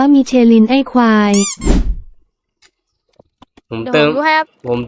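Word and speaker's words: Michelin: ๆ ใช่ มั้ ครับ มิ เชล ไม่ ใช่ เหรอะ มิ ี ไป ๆ ๆ ๆ ๆ ไม่ โง่ 2 ตัว พวก มึง อ่าน ไร ของ พวก มึง มัน อ่าน ว่า มีิ เชิน ไอ้ ควาย ผม เติม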